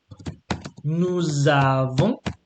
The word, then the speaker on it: nous avons: So j'ai, tu as, il a, without S, elle a, nous avons. So notice the liaison, yeah, the joining, yeah.